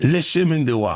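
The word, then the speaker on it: Le Chemin du Roi: Speaking of, how the hell you pronounce Lechem? Le chemin de roi. Okay. It's the King's Path.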